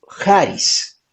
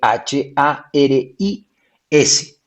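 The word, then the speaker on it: χάρις: como se escribe charis se pronuncia en griego jaris pero se escribe charis entonces ustedes tomen nota charis con che c h a r i s charis y en griego se pronuncia haris con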